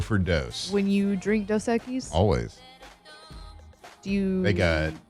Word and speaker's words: Dos Equis: How do you say that in Spanish? Dos Equis. Dos Equis.